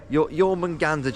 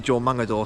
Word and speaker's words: Jormungandr: Jormungandr, Jacob says. I was going to say Jormungador, so I'm glad I got him to pronounce that.